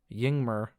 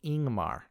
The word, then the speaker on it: Yngmar: And one last example, YNGMAR. Looks like it should say Yingmer, but it's actually pronounced Ingmar.